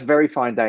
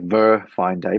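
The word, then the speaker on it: Ver.Fineday: he's over there right now and so that's very fine day and it's spelled V E R dot F I N E D A Y. So it looks like Ver fine day, but it's pronounced very fine day.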